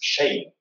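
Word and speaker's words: schéin: For example, beautiful is shame. And that's spelled S-C-H-E with the accent on it, then I am shame.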